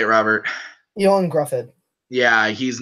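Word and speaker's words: Ioan Gruffudd: Ewan Grufford.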